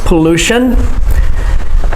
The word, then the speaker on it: pollution: Say it the same as me, pollution. The stress is on the second syllable, pollution.